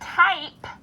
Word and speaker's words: type: Now, in the word type, silent E has changed things up.